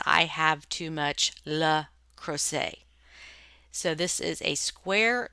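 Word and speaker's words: Le Creuset: It is not le crochet, it is le crochet.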